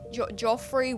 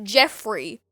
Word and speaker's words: Geoffrey: How do you think it's pronounced? Okay, so there's G and E, so Geoffrey, Joffrey, what? No, stupid, it's Jeffrey.